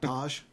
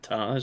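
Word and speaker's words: Tagge: the other day that nobody pronounces General tag the same way Gerald Tosh General Todd General taggy don't charge a it's French that's General tag okay Mike's still drawing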